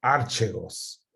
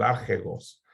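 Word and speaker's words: ἀρχηγός: Y me encanta la palabra que usa para describirlo, el archegos, así se pronuncia, el archegos.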